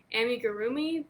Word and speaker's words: amigurumi: turn i don't because i've done so much amigurumi i said it right amigurumi that you're not supposed to turn so i